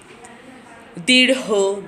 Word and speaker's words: দীর্ঘ: এবার আসি সর্বশেষ শব্দে, দীর্ঘ, গাঢ়। এটা উচ্চারণের শেষে হ আনতে হবে।